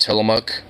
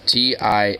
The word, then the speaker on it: Tillamook: And actually, like, Rose, if you do not have at least Tillamook ice cream, at least, you probably have Tillamook cheese out there.